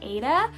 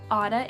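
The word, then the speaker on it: Adah: their name and people would mistake it for ada but it's actually pronounced otta it's adh this name is currently not ranked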